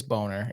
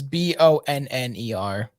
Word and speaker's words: Bonner: louise and neil boner it is boner it's b-o-n-n-e-r that's bonner boner is spelled with one end i don't give a